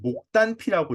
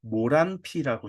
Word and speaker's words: 목단피: 그 다음 거를 이제 한방을 제대로 한 사람은 목단피라고 읽습니다. 그냥 생활 한자를 하는 사람들은 모란피라고 읽어요. 목단피하고 모란피는 똑같은 겁니다. 똑같은 건데 왜 모란피를 목단피라고 하는 거 목단피를 왜 모란피라고 하는 이렇게 하실 필요가 없어요.